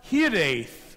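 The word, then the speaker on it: hiraeth: maybe you know it it's pronounced hit 8th all together and it's a very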